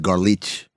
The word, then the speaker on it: Golic: First of all, it's pronounced garlich. It's Eastern European. Well, that's the Golics. They're Golich, yeah.